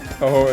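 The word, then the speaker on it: Touhou: Listen, you can mispronounce the character name, but like, at least you're not saying Tuhu here. No, We he's progressed. a proud Fumo owner now. He can't mispronounce Toho anymore.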